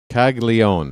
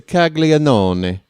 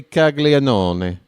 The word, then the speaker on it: Caglianone: How are you skipping that third syllable that's clearly in there? Folks, I took Italian, okay? When I went to university, I took Italian for 2 semesters. And I can tell you right now, if I'm phonetically reading the name, it's a Caglianone. That's how you would say it. So if I got it wrong, scusi. But I say Caglianone.